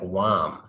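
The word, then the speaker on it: womb: party makin mm-hmm basically actually that's more like wow that's actually more like wom so I don't know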